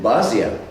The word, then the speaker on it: Basia: London and play with Basha. And the funny thing was, in France we didn't pronounce Basha, we pronounced it Basia.